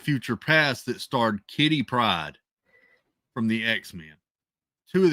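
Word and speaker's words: Pryde: But anyway, Kitty Pride, it's spelled P R Y D E.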